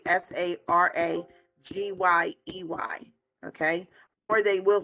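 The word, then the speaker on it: saragüey: ROMPE Sarague. It's actually SARAGYEY.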